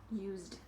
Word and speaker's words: used: that's not the verb the verb is use to use something with the verb we pronounce that letter as a z sound so z is voiced and in the past it is continuing to be voiced used so again extra syllable